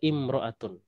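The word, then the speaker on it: امرأة: perlu Anda ketahui ya Ini imroah ini kalau dia berdiri sendiri itu bacanya imroatun Tapi kalau pakai alif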